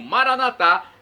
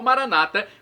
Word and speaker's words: Maranata: de Jesus eu clamo Maranata com a tônica na última sílaba como dizemos nós católicos ou Maranata como dizem nossos irmãos separados os evangélicos ou Protestantes não importa pronúncia o